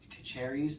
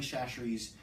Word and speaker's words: Chachere's: Tony Kacheris, but it's not. I don't think it's pronounced Kacheris. Tony Chachere's Creole seasoning, and then